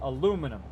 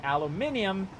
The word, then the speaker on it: aluminium: Like here in the United States, everybody, we use the word aluminum. Uh, but there actually is an I in the word aluminum. Uh, so it's actually aluminium is how they say it in Britain and other places like that.